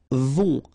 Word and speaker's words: vont: Then, ils vont. Final T not pronounced, and then ON together. On vont. Okay?